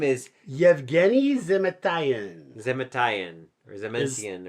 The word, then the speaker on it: Yevgeny: Oh yeah, it's Yevgeny.